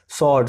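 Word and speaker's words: sword: सॉर्ड, सॉर्ड का मतलब होता है तलवार, इसमें भी डब्लू का आवाज नहीं आता है।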